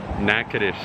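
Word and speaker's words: Natchitoches: me for a second nakadish that's pronounced nakadish yes indeed yeah well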